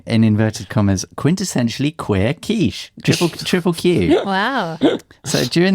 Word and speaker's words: quiche: Does anyone fancy a quickie? Excuse me? Let's try and finish the podcast first. No, it's a quiche.